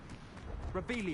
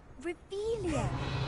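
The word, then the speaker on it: Revelio: Rebellion. You're saying it wrong. Ugh, Revelia.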